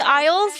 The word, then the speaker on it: Isles: There's no way Koreans pronouncing Isles with Isl. But like that's correct actually. If you just pronounce each letter separately, like it's actually Isle.